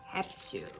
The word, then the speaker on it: réptil: terra, e sobre todo réptil que se move sobre a terra. Réptil. Essa pronúncia é réptil.